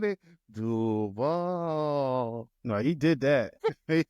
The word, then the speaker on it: Duval: He said, hey, Mike Greenberg said, I think the emphasis was on the wrong syllable. I said it was. It's not the A that you stretch out. It's the U.